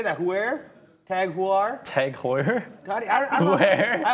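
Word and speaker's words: TAG Heuer: heard that tag aware how do you say it tag hoyer you were you were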